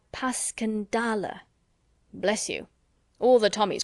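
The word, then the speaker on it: Passchendaele: Marant, it was so strange to hear you call it Passion Dale. Why, if I may ask? because that's the way I pronounce it to myself. But I looked it up and it's more like puscandala.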